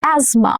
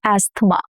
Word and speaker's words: asthma: Asthma. Not asma. Asthma. Even for Indian English.